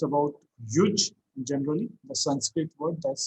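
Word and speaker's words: युज्: So in brief, we can say that simply it's a Sanskrit word which is pronounced as yuj, and yuj is actually what it means is actually to unite.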